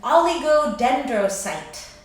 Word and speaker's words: oligodendrocyte: So our last macroglia of the central nervous system is called an oligodendrocyte. So we once again have the ending "site."